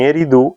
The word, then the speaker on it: Eridu: En Eridu, ahora Zecharia Sitchin le coloca acento en Eridu, en el sur de